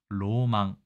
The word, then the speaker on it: 浪漫: 있도록 한자를 골랐겠지만 자 일본에서는 이게 낭만을 낭만이라 읽지 않고요 의외로 로망이라고 읽습니다 로망 그러면 프랑스 고어인 허망